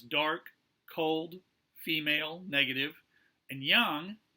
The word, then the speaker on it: yang: Yin, which was dark, cold, female, negative, and yang, or yang as it's sometimes pronounced in America, light, hot, male, and positive.